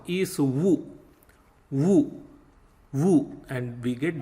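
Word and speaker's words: वु: And Wu is pronounced like WOO in wood.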